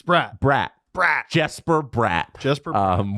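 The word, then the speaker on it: Bratt: I know Devils fans will correct me on on the pronunciation. So, it's not broad. Eh, it's Brat. Brat Brat.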